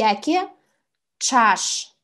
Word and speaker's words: ӵаш: Ч с двумя точками звучит как сочетание тш. Например, коӵыш "кошка". Или ӵаш "шумно".